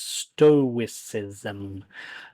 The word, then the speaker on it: stoicism: one is about stoicism pronunciation for this word is stoicism the stoics were a